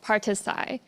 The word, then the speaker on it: Parti-Sci: name has changed but you may find it difficult to pronounce the party name because it is a short of participatory science. So partisai uh it is basically